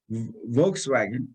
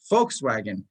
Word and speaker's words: Volkswagen: an f right like volkswagen it's wagon of the folks that's where it comes from b would be pronounced as an f and the w would be pronounced as a v yeah it was started